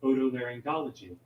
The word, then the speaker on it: otolaryngology: laryngology that's a mouthful otolaryngology laryngology so you do that's a hard g the first g is actually hard g gology okay otolaryngology otolaryngology there